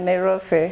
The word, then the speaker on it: Nairofey: I don't know how to pronounce it. Nairofey? Yeah, Nairofey.